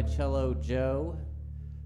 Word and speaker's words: Cello Joe: I go by Cello Joe, spelled like Jello, but with a C, then add J-O-E.